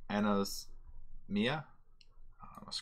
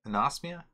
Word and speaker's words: anosmia: is there called uh Ana's Mia oh come on dude you gotta pronounce that better anosmia yeah anosmia and that's the condition do